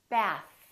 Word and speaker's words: bath: Bath. Keep your tongue out. Don't rush. Don't bring it back in.